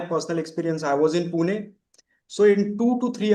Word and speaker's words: Pune: I'm from I'm from Pune. Maharash. That's how you pronounce it. I've been calling it Pune the entire time.